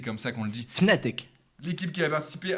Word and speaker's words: Fnatic: J'arrive jamais à le prononcer. C'est Fnatic ou Fnatic. Voilà. Fnatic. Mais si, c'est comme ça qu'on le dit. Fnatic.